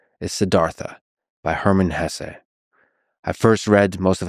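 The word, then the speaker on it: Hesse: and by the way please allow me this pronunciation of his last name I've heard some people say Hess but my whole life I've always said Hess so anyway it was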